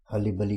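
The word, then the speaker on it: hurly-burly: Next हर्ली बर्ली, यहाँ पर actually जैसे प्रोनाउंसिएशन दिया है आर साइलेंट रहता है, हर्ली बर्ली करते हैं इसको, प्रोनाउंसिएशन इंपॉर्टेंट है।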